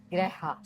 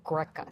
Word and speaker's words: greca: The Tuscans pronounce the C's with an H, so she said it's a greja salad, which the regular Italians call it a greca salad.